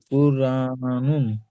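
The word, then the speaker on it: قرآنٌ: হুম, কুরআনুন। সর্বপ্রথম এই র আর সাকিনের কায়দাটা খেয়াল করবেন। কুর, দেখেন কুর বলার সময় র কিন্তু উচ্চারণ করার সময় মুখ গোল অটোমেটিক হয়ে যাচ্ছে।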